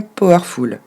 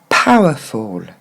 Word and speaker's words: powerful: Souvent on entend powerful. Et en fait, il faudrait dire powerful.